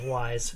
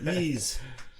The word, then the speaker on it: Ys: I always thought it was wise. No, Ys.